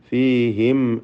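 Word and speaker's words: فِيهِمْ: ഫീഹിം എന്നതിലുള്ള സാക്കിനത്ത് അമീമിനെ ഇൽഹാർ ഷഫവി നൽകി മണിക്കാതെ വെളിവാക്കണം. അല്പം പോലും ഗുന്നത്ത് മീമിൽ വരരുത്. ഫീഹിം അൽഫ എന്ന് ഓതണം.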